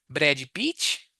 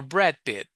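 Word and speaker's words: Brad Pitt: What's his name? Is it Brady Peach or Brad Pit? See the difference?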